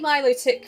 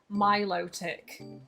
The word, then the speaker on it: Milotic: I actually say Milotic correctly because I was saying it wrong for ages, and then I actually heard how it's officially pronounced and it's stuck in my brain box ever since. Milotic.